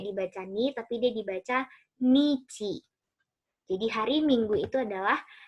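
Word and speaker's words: 日: Nah, ini dibacanya nichi.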